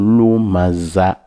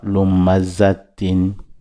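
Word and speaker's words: لمزة: Donc en professionnel, on dit wailun likulli humazatin lumaza. On ne prononce pas les tin, on coupe, mon kata, on coupe en disant lumaza. Bon, on ne dit pas lumazatin.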